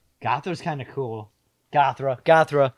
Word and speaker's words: Göthra: Gothra. Gothra's kind of cool. Gothra. How are we going to spell it, though? Goth, R-A. Like Mothra.